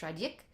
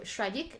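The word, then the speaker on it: Schradieck: I think it's pronounced Shradik, first page.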